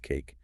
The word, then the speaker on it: CAIQ: The Consensus Assessments Initiative Questionnaire, or CAIQ, pronounced cake.